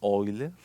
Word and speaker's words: Euler: llama número de euler en alemán se pronuncia wilder pero se escribe euler me imagino que ya